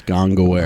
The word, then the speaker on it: Gongaware: You can follow Gongaware on Twitter at Gongaware, which is spelled gong, like the bell, and then aware, like you understand that it exists. Gongaware.